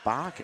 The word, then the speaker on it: Bach: Billy Bach is the correct pronouncing.